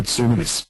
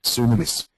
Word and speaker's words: tsunamis: An erupting volcano can trigger tsunamis, flash floods, earthquakes, mudflows and rockfalls.